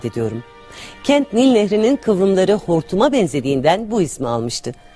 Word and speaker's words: Hartum: Kent Nil Nehri'nin kıvrımları hortuma benzediğinden bu ismi almıştı. Şimdilerde Türkler bile kente İngilizlerin telaffuzuyla Hartum diyorlar ama Sudanlı için Hartum hep Hortum olarak kalmıştı.